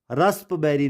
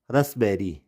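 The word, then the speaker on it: raspberry: यहाँ पे इसको कूप नहीं पढ़ेंगे, और ये रस्पबेरी नहीं होता, ये क्या होता है, रसबेरी, रसबेरी, यहाँ पे पी क्या हो गया, साइलेंट हो गया।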